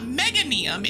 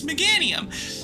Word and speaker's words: Meganium: But Meganium isn't pronounced Mega. It's not Megaium. It's Meganium.